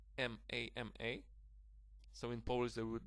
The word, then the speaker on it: mama: Okay, the second pronunciation, ma was without stress, but the stress falls on the first syllable here, so it's mama.